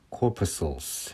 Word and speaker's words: corpuscle: blood corpuscles. 그래서 C는 묵음입니다. muscle 할 때처럼요.